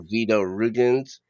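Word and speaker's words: Vyto Ruginis: Vito Rugens, I believe that's how you say his name.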